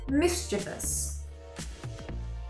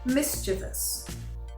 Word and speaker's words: mischievous: again miss g vs most people native speakers included find this word more difficult to sound out and for some reason sneak in an extra e sound the correct pronunciation can be broken down like this mischievous mischievous one more time mischievous let's move on word